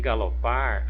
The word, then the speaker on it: galopar: Em galopar, a sílaba tônica é o par.